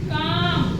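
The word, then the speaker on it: calm: देखो यहां पर भी हमारा एल क्या है साइलेंट है वैसे ही है काम इसको हम बोलेंगे काम काम यानी की शा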